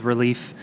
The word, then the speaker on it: Releaf: the time on called Relief. It's spelled RELEAF. Like a leaf.